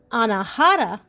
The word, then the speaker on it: anahata: Next chakra, which would be the heart chakra, which is pronounced anahata, uh, is located near your heart, of course, right?